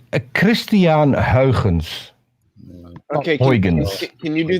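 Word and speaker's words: Christiaan Huygens: The only thing I remember is And it's pronounced Christian Huygens. Okay, Huygens. can you do that one more time, but a little slower? Like Christian- seriously. Huygens.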